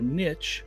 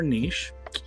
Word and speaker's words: niche: others carve out a niche or niche but now where you want to pronounce it at now which country you're in Mitch or niche strategies public relations course